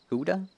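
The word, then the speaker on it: Gouda: It's probably pronounced different in English, but Germans say ga. Guda.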